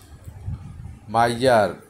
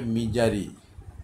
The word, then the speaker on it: misery: আরেকটা হচ্ছে মাইজার, MISER মাইজার হচ্ছে কৃপণ, মাইজারম্যান কৃপণ লোক। আবার MISERY শুধু একটা ওয়াই আছে এখানে, এটার ইয়াটা হবে মিজারি, এটা মাইজারি হবে না, এটা হবে উচ্চারণটা মিজারি, দুঃখ কষ্ট।